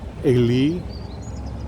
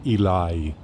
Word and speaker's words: Eli: in hebrew we call in hebrew we call him ali and in english his name might be pronounced eli so this could also